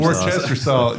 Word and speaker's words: Worcestershire: Worcestershire. Did I say it right? Worcestershire. Yeah. Worcestershire. Worcestershire, yeah, okay. Yeah, Worcestershire. Yeah. Worcestershire sauce. Worcester sauce. Yeah. Yeah, that's what my aunt calls it. Worcestershire sauce.